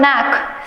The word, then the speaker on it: knack: Next question is, what is the synonym for the word knack? K-N-A-C-K. Here K is playing the role of a silent letter.